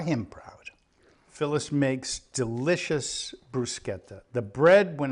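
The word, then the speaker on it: bruschetta: it becomes brusketa um a lot of people pronounce it brushetta uh in correct if it were an English word that would be the way to pronounce it but as an Italian word um uh it's pronounced bruetta a h sound and very flavorful Dave brought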